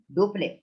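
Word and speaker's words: Dupleix: डुप्ले, इट is pronounced as डुप्ले।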